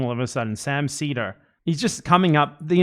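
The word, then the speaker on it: Sam Seder: I don't think he just brushed off the Hassan thing and started talking about Sam Setter. Sam Cedar, whose name Why am I pronouncing it wrong all of a sudden? Sam Cedar.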